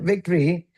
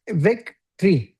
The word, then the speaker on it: victory: Victory is Vic. Vic tree. Exactly. Victory. Yeah. Victory. That's like O silent.